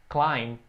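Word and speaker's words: climb: perigosa e disse escalar o verbo escalar é klein atenção toda pronunciation atenção a pronúncia essas palavras em inglês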